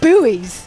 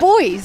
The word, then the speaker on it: buoys: You say buoys. It's boys. That's how it's how Americans say.